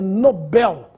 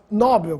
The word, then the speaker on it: Nobel: se ganha o prêmio é Nobel Esse é o nome do Sueco que nos deu o prêmio da tão distribuído até hoje Alfred Nobel portanto sem acento não existe a forma nóbel como Alguns falam oceânia Oceania já ouvi